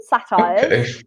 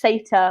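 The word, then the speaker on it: satyr: a goat so and they are called satire well often pronounced it SATA or SATA but it's satire and they they were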